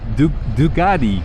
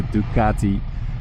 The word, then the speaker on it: Ducati: last week I said Dugatti Dugatti like a Bugatti the car. Uh this is not a Bugatti, it's not a Dugatti, it's a Ducatti. So the C is a C.